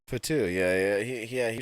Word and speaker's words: Fatu: you had uh Jacob fat pronounce his last name fat Fatu yeah yeah he yeah